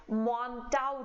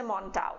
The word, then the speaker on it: Mantoux: Test का नाम है मॉन्टाउ टेस्ट. स्पेलिंग अलग है, MANTOUX है, बट बोलते इसे मॉन्टाउ है.